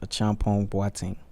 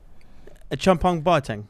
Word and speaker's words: Acheampong-Boateng: that name i'm from ghana so it's it's pronounced a champion wating a chum punk bar tang yeah you're a little close yeah a little